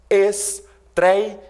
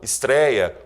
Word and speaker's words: estreia: Exemplos: estreia, ideia, androide. Reparem aí que a sílaba mais forte nessas palavras é justamente a penúltima. Portanto, estreia, portanto, androide, são palavras paroxítonas.